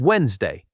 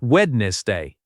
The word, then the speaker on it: Wednesday: It has a D in the middle, but we never say it. The correct pronunciation is Wednesday, not wedness day.